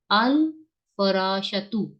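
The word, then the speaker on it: الفراش: नहीं बताए मुझे सब अल फराश तु नहीं क्यों क्योंकि ये मून लेटर में से ये इन लेटर्स में से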